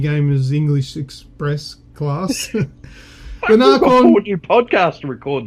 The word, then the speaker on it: Nacon: No, I'd go Narcon because I'm Australian.